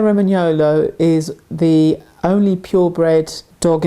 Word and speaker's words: Romagnolo: If you say Roman and then Yolo and put it together, Romagnolo, you have the correct pronunciation of the breed.